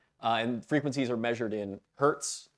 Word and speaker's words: hertz: frequencies are measured in hertz that little HZ pronounced Hertz h-u-r-t-s right um so what